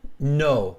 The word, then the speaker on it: No: You just call me back because No is my first name. No, right? So it's pronounced no.